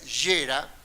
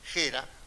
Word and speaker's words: Gera: Lucio Gera sería Gera, pero nosotros lo pronunciamos a la española, Gera, con G, porque él había nacido